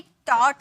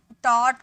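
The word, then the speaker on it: taught: या कुछ भी हो, याद रखिएगा GH हमेशा साइलेंट होता है और T होता है, तो इसे हम टॉट पढ़ रहे थे, टॉ, GH का साउंड नहीं आ रहा था।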